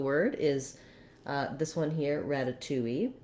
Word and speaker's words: ratatouille: is this one here ratatouille that has four syllables with the stress on the second to last syllable two if you say ratatouille that stress is going